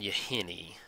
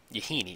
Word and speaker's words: Yahenni: go and get down you hynny I think I like that yes good on you honey you Heaney excuse me I used to say it wrong for a long time and then you say